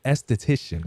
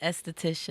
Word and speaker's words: esthetician: Sade, man, she's an esthetician, correct? That's how you say it? Esthetician. Esthetician. Yes.